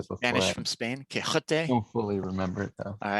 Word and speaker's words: Quixote: you guys familiar with the story of Don Quixote? That's the bad American English pronunciation of it. Don Quixote. You want to do the I've heard of it before. Spanish I from Spain? Quixote.